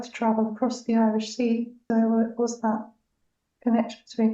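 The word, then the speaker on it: Siôn: support me who was called sea but it's spelled SI o which is the Welsh for John it's the Welsh version of John but he said that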